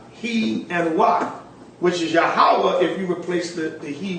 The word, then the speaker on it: Yahweh: Yo, He, Wah, which is Yahweh.